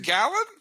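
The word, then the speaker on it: Gallen: did it wrong again is it gallon yeah gallon you always say gayly who the hell follows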